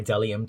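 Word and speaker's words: Bdellium: a brush this is by dellium tools the b is silent do not forget this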